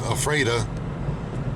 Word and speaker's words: Ephrata: Ephrata is pronounced Ephrata.